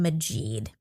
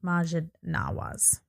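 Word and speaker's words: Maajid Nawaz: day yeah y anyway um so Talib was mispronouncing he kept calling him Majid and his name is Majid Majid Majid Naas yeah which again is not to take anything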